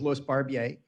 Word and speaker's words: Louis Barbier: so my name is louis barbier french pronunciation i live on camelback